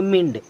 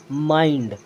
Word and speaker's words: mind: मिंड, विंड, फिंड, किंड, बिंड। लेकिन ये बिल्कुल गलत है। अब इसे पढ़ना क्या है? यहाँ आई है ना, तो आई का उच्चारण पूरा आई ही करेंगे।